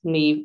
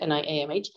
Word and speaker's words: Niamh: It's pronounced Niamh, Niamh.